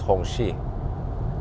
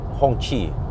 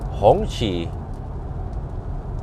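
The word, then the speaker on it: Hongqi: not as quiet as hongshi Hong Chi wait I think it's called hongchi hongchi but I believe I was misinformed by the Norwegian importer because they claim that it's pronounced Hong Shi like she but I think when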